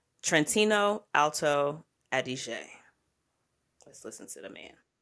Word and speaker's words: Trentino Alto Adige: Pronounce it appropriately. I want to say, let me see if I get it right. Trentino Alto Adige. Let's listen to the man. Close enough. Trentino Alto Adige.